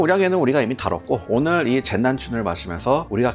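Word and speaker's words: 剑南春: 어 남은 남쪽 중국어 발음으로는 젠난춘 이러더라고.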